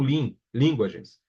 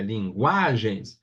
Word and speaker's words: linguagens: Mas já em linguagens, não é o lin, linguagens. É linguagens. Se fosse o lin, deveria ter acento, porque seria uma proparoxítona, e todas as proparoxítonas são acentuadas.